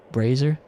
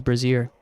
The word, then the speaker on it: brazier: Brazer. Brazer. Huh? Brazer scooter. Brazier. Yeah, I was pronouncing it like a, you know, a woman's Brazier.